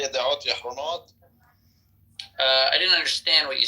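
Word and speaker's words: ידיעות אחרונות: Yad'ot Yahronot. Otiot Achronot. It's cha.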